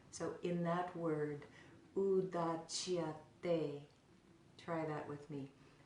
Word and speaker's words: Udacyate: So both of those are pronounced with the tongue placed on the back of the teeth and then drawn back. So in that word, Udacyate, try that with me. Udacyate, Udacyate, Udacyate.